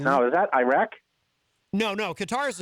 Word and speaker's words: Qatar: I think it would be Qatar, which some people in the media pronounce Qatar, which I find strange.